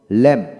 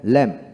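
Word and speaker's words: lamb: ডাম ডাম তারপর আসেন এল এম বি কি হবে ল্যাম্প ল্যাম্প এল ই এম ল্যাম্প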